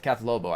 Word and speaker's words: Kath Lobo: I mean, I would, yeah, Kath Lobo actually is how you pronounce her name.